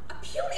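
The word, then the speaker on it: oppugn: A pune is a hard one. Spell it.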